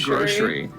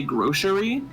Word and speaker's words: grocery: the respondents said that they pronounce the C as like a sh sound so they say grocery and I'm like what